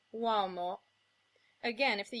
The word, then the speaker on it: uomo: Similarly, if a U comes before another vowel, it becomes the glide w, as in uomo.